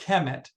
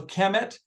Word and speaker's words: Kemet: It's called Kemet. That's K-M-T. There's no vowels in ancient Egyptian. So Kemet, it may be pronounced a little bit differently, but KMT is it.